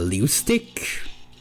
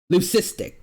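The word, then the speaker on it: leucistic: it's going to be it might be a leustic um Shanungasaurus. I think that's the right term. Let me see. Leic pronunciation. Lucistic. Lucistic.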